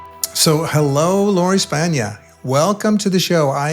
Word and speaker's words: Spagna: Now, that's pronounced Spana. I think you're Italian, right? Yes. Like lasagna.